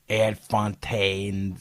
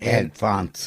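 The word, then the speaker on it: Ad Fontes: groups like NewsGuard, GDI, Ad Fontaine. I don't know how do you say that? Ad Fonts. Yeah, like the type.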